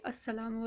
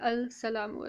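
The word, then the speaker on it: السلام: Okay, so we say Assalamu alaikum. Alright, we never say, alright, so we say Assalamu. Okay, where is this Laam-e-taareef? It is not vocalized here. We never say al-salamu alaikum. We don't, right?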